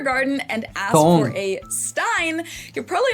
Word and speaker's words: Stein: S t at the beginning of a word always turns the s into a shh sound. Stein, not stein. Steinstein in German.